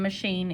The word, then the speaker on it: machine: But sh in machine is spelled with a CH. Een is going to be spelled I-N-E. Een. Machine. These three letters here, you're just kind of going to have to memorize it because that I